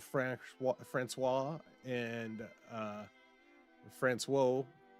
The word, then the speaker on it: Françoise: only child of Fran Fran Francois and uh Françoise I don't know how the female pronunciation is. Françoise, there you go.